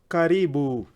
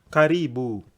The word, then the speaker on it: karibu: you how would they say welcome come in caribou karibu yotan if they wanted to welcome many people if you want the one saying welcome everyone in my house karibuni karibuni can I hear you say that very